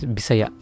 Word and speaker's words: Bisaya: I'm Filipino, I'm Bisaya. So yeah, Bisaya. How do you say that in your accent? Bisaya. Ours Bisaya. Bisaya.